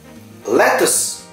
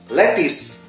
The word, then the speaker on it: lettuce: Lettuce. Lettuce. Penulisannya sama ya bro dan sis, tetapi British English itu pronunciasinya lettuce. Tetapi American lettuce, U-nya berubah jadi huruf I.